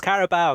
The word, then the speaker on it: Carabao: continued your tradition of pronouncing something different from each other caribou vs. caribou and and it's it's carabao Karthik it's care about yeah I don't know